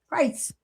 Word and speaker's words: Crites: So listen, I want you guys to check her out at Christy Crites. I'm saying it wrong. Crites, right? Yes.